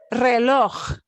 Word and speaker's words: reloj: Reloj. Reloj. Reloj. Reloj. A lot of people like to call this J sound like the Scottish, like Loch Ness monster, Loch Ness.